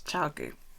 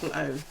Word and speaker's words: ChiaoGoo: It's ChiaoGoo. That's how you pronounce that. No, it's got an O after the A. Chow. ChiaoGoo. ChiaoGoo.